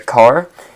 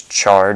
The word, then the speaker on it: char: means that it's a car also known as char depending on how you say it character and that